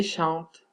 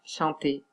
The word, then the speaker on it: chante: On dit « je chante ». On ne dit pas « chanter ».